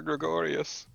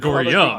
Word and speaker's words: Gregorium: Talik, who the fuck is Father Gregorius? Isn't that your guy's name? Father Gregorium. Gregorium. Telling it's written right there. Remember, Yeah, it rhymes he with keeps emporium fucking and crematorium.